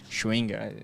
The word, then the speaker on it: Schevenger: Como que se pronuncia, Ju? Schwenger.